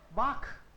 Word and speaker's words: Bach: ch से पहले अगर आपको a, o और u आए, then it is kh. Otherwise, it is always sh. For example, what is this? Bach.